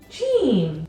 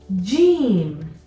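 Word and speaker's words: ج: put a dot inside this letter is called Gene Gene it makes a sound Gene and this is similar to your letter J in English the dots inside Jim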